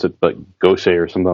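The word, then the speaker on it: Gose: good I forget how to pronounce it but go say or something like that that was actually with the same kind of yeast Goza thank you they they made it with the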